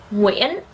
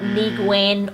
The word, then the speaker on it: Nguyễn: And it is pronounced Nguyễn, not Nguyen or Nguyen, okay?